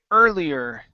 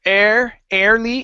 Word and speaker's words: earlier: go to um okay earlier uh where you at okay instead of air early it's ER earlier try that earlier good